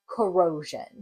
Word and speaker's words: corrosion: So I know the end will say shun, or jun rather, and the beginning is going to sound like this, k, or, core. And the next syllable says o, row. And the last syllable will say jun. I'm going to put it together. Core, row, jun.